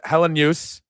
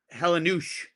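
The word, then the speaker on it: Helenius: Helen Helen use Helenuse. The way he said it to Matt Bove was Helenuse.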